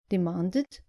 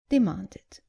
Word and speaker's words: demanded: And not demanded, but demanded.